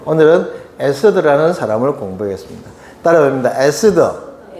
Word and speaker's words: 에스더: 근데 에스더가 이제 주인공이 된 책이 바로 에스더 책입니다. 에스더.이 이 본토 발음을 영어 발음으로 에스테르 에스테르라고 하는데 밝게 빛나는 별 즉 별이라는 뜻입니다.